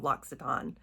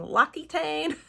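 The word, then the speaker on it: L'Occitane: It took me a while to get the hang of Loxiton. Loxiton. I was always saying Loitane.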